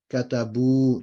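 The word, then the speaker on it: كتبوا: Right, so there's a bit of that still there, but it's katabu, there's no noon, and you don't pronounce that alif.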